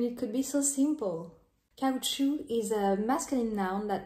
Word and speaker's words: caoutchouc: noun that means rubber the first part C it's the a just like in car so then you have UT like double o t and the end of the word is sh Shu just like a shoe the tires made with